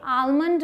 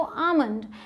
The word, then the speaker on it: almond: कुछ लोग कहते हैं कि आलमंड में L साइलेंट है, लेकिन इसकी दो प्रोनाउंसिएशंस हैं, या तो आप आलमंड बोलिए या तो आमंड। अमेरिकन इंग्लिश में L साइलेंट नहीं है, वहाँ आलमंड बोलते हैं, और ब्रिटिश में आप L को साइलेंट बना सकते हैं और आमंड बोल सकते हैं।